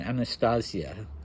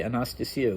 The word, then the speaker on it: Anastasia: but he is pestering Anastasia, as Dmitri says. I always want to say Anastasia, which is the Greek pronunciation, but that would be wrong.